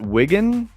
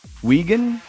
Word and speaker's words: Wigan: Is that Wigan? Wigan. Wagan.